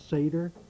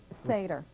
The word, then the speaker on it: Seder: string that he presents it's Seder Seder right several ways that it can be pronounced but it's pronounced right tell me briefly about